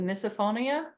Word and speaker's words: misophonia: I know one thing that you mentioned that sugar experiences that you also have experienced is, let me say it right, misophonia.